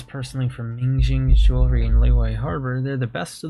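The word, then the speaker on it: Liyue: I think it's strange it's pronounced leeway but it's spelled with a Y so it's not Lea jewelry even though I brought all of this personally from minging jewelry and leway harbor they're the best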